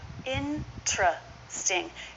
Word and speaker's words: interesting: most interesting interesting or in truth sting you might hear a true T instead of the CH though the CH is more common interesting or interesting now